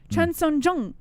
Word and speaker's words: Chan Sung Jung: I just said it how it's pronounced. Chan Sung Jung.